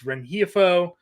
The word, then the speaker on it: Rengifo: That's Luis Rengifo.